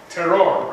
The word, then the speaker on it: terroir: Terroir, right?